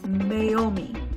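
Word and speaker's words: Meiomi: The third one we have is pronounced Mayaomi. Mayaomi Pina Noir.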